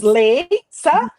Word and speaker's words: Leysa: like my daughter said, it's like the potato chip company. Yep. Yes. Like Lay's potato chips. Yeah, it's just Leysa.